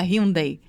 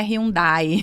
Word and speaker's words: Hyundai: Eu me lembro muito do case da Hyundai, né? Que ela sempre tem essa chamadinha para de uma forma indireta dizer assim: "Não é Hyundai". Uhum. É Hyundai, né? Poucas pessoas pronunciam Hyundai.